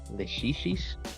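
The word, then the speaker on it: Lachesis: I made a Leshishis, that's how you say it, who has Growth 2, but becomes a Growth 3 skill thanks to fusing her during an alarm.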